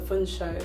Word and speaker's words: Funso: But I will be called Felicia, Fiona, sometimes not even a name beginning with F instead of Funso, which is 2 syllables, like it's not that difficult, it's not that deep.